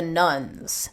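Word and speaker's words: nones: you talk about the nuns. So what are you referring to there, and why are their numbers rising so dramatically? Sure. So the nuns, and that's spelled N-O-N-E-S, not nuns like Catholic nuns.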